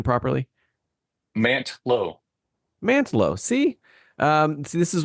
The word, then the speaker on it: Mantlo: Mantlo.